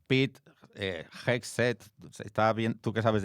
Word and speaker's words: Hegseth: apellido de este señor muy bien cómo se pronuncia. Pete Hegseth. Está bien, tú que sabes de inglés, está bien dicho. Bueno, yo no sé mucho. Pete Hegseth.